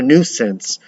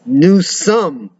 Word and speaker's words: Newsom: That Governor Nuisance, pronounced nuisance. Giselle and Josh almost simultaneous. Newsome. Joey, I was being polite.